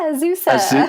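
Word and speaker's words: Azusa: designer over at ausa Pacific University did I pronounce that correctly yeah ausa ausa um tell us more about the types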